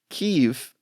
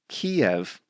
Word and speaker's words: Kyiv: Kyiv is close to what they say in Ukrainian, but I grew up calling that city Kiev, which is more aligned with the Russian pronunciation of that word.